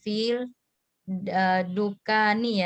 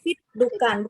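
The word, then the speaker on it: فِي الدُّكَّانِ: Berarti kalau Samsia alif lamnya tidak dibaca ya, jadi langsung ke lebur. Berarti fit dukan, bukan fil dukan.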